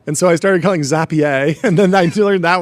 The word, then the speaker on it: Zapier: what did I call I called it Zapier like a rapier for a long time and then and then people were telling me that's wrong and so I started calling Zapier and then I learned that was wrong.